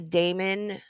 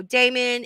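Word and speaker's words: daemon: it it's like the Damon mailer comes back it's spelled d-a-e-m-o-n like we talked about Damon's demons like a couple years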